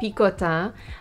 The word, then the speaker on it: Picotin: popular non-quota bags and it is called pikota and yes i do speak french so my pronunciation is the correct way the official name of